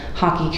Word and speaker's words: Haki: So I recognize, for example, I'm general manager at Hockey Community Organization, it's spelled HAKI.